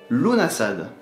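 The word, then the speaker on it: Lughnasadh: Lunasad. Il ne faut pas prononcer le G.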